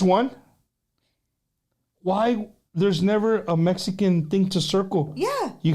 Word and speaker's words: Mexica: Don Cheto, I use the term Chicano or Mexican. Chicano is based off a native North American word, Mexica. The X is pronounced ch or sh.